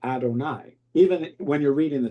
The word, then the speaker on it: Adonai: It's written um y v and hey, but you say adonai. Even when you're reading the Torah, you don't pronounce it.